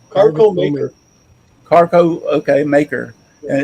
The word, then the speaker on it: Carveco: CARVECO. Carveco Maker. Carco, okay, Maker.